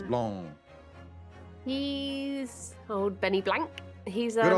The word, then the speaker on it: Blanc: It's French, so you don't really pronounce the C's. Blanc.